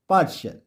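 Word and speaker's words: partial: है तो रूल है टी के बाद अगर आई ए आई ई आई ओ दिखे तो टी का उच्चारण श होता है उदाहरण से समझते हैं पी ए आर टी आई ए एल पार्शल एम ए आर टी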